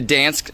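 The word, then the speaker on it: Dansk: going to tell you go with the dance i think that's how you pronounce it d-a-n-s-k and it sounds really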